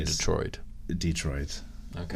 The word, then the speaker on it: Detroit: He says Detroit. It takes I say place. Detroit. Detroit. Okay. It's all about the emphasis on the correct syllable.